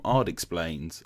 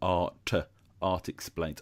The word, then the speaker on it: ARTexplains: But of course, I know you as a YouTuber from ARTexplains. I said that really wrong. ARTexplains.